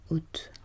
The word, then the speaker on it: hôte: Qu'un O fermé comme dans hôte. Hôte. Donc lorsque je prononce le mot hôte, je suis censée fermer mon O.